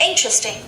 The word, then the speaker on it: interesting: starts with i interesting pay attention to this dress after me interesting interesting interesting so where is the stress first syllable or second syllable interesting first syllable yes and he said by